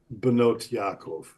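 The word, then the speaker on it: בנות יעקב: For example, the daughters of Yaakov, ha-banot shel Yaakov, that's what this is here, the daughters of Yaakov, becomes Benot Yaakov.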